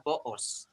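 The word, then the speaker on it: beos: Dalam bahasa Bidayuh adalah boos. Boos. Cuba sebut. Boos. 1, 2, 3. Boos. Betul ke? Cara eja dia lain sikit. B-E-O-S. Tapi saya sebut dia boos. Ejaan B-E.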